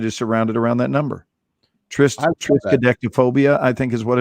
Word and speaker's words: triskaidekaphobia: Fear of the number 13 is called triskaidekaphobia. Triskaidekaphobia. No, Yeah. she's just saying it wrong. You know how she pronounces stuff weird sometimes.